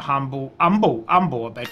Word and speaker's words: Humble: piece of humble pie the way you pronounce that word of course it's a silent h that makes total sense